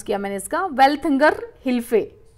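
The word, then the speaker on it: Welthungerhilfe: दूसरी एक private add organisation है जर्मनी में, जिसका नाम है आपका वेल्थंगर लाइफ, ठीक है, वेल्थंगर हिल्फे, गलत नाम प्रोनाउंस किया मैंने इसका, वेल्थंगर हिल्फे।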